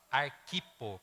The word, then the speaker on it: Arquipo: esposa de Filemon e desculpa arquipo que é um proparoxítona acentuada né como não tem acento então é arquipo arquivo provavelmente é o